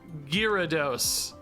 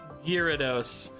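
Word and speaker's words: Gyarados: third dude gardos sick a lot of you were saying you pronounce it just girados as if you kind of ignore that first letter A just girados but this is I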